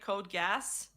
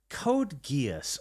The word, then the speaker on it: Code Geass: I pronounced that one anime code gas. They Code laughed at Gas. me. That's you deserve it. Yeah, that's fair. true. Code Geass.